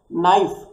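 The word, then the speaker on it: knife: नाइफ एटा word टा कौन कह जाउची के मु कौन नाइफ बोली कहूची कि नाइ नाइफ बोली कहूची किंतु के टा यूज होईची।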